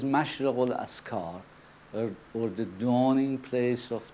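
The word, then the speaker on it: Mashriqu'l-Adhkár: Naturally you realize that it is difficult for a person who does not speak the Arabic language to pronounce the word Mashriqul Askar precisely. So, anyway, the right one in Arabic is Mashriq al-Askar, or the dawning place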